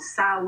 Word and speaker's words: Samhain: the lord of death sanheim or saw as it's pronounced where every witch every